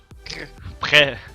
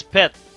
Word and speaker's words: prêt: Yeah, you have to pronounce your R, man. It's not. Yeah, If why not, are you giving me shit for pronouncing my R's like that? if not, it's pet, and pet means fart.